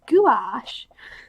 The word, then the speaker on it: gouache: And then I find that gouache, I looked it up, it's pronounced gouache.